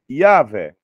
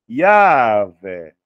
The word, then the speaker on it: Yahvé: Temos aqui uma outra pronúncia hipotética, desenvolvida também pelo arqueólogo Albright, né? Yahvé, né? Que seria também uma pronúncia cabível.